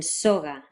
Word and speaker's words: soga: A similar thing happens with Spanish's g, as in soga. The symbol looks like a little V with a curlicue underneath, and it's pronounced in a similar way to a hard G sound, g, which is generally made by bringing your tongue all the way up in the back and closing off the flow of air, g, g.